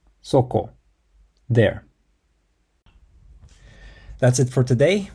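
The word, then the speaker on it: そこ: The word there is pronounced soko.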